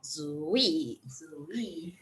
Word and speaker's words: Zuii: might wondering is it uii how is it pronounced so it's called zooey right so our goal is to provide certified